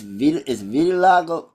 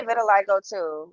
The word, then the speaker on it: vitiligo: the pronunciation is what? It's Vitiligo.